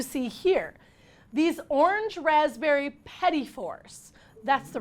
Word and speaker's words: petit fours: These orange raspberry petit fours.